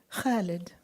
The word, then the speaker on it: Khalid: Even my 8-year-old could constrict her throat muscles the right way and say, Khalid, immortal like an ancient olive tree, a flame that never abates, a mother's love.